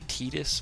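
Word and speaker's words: Tidus: His name is technically Titus, by the way. As in tedious. Nothing to worry about. That is the actual pronunciation of it. Most people say Titus.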